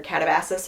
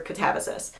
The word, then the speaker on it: katabasis: It's either katabasis or katavsis. So however you pronounce it, however you say it is not inherently wrong.